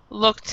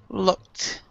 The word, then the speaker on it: looked: service and also looked looked has a t sound instead of ed looked ok alright so um